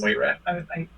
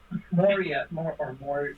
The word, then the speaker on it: Moria: All right, next is Moria. Is that correctly pronounced? Yep. I was Moira. Moria, yeah, like it's kind of like it's for the name of the character. What it's Moria.